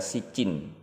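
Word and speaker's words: Siccîn: Sebetulnya judulnya masih sama, hanya saja film orisinilnya memakai huruf C yang akan kita baca Sijin, yang mungkin dalam pengucapan Indonesianya ya dibaca Sijin.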